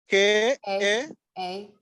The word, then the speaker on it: Kamwokya: The slum is called Kamocha. Kamocha. Can you spell it for us? It is Kamyocha. sorry, KAMWOKYA. KOYA. Okay. Yes. Say it one more time. KAMWOKYA.